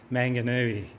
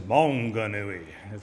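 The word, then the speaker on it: Maunganui: called Mount Monganui and I heard it um pronounced on the TV Manganoui. It's actually Monganui as you give it that kind of Mauy sort of uh pronunciation.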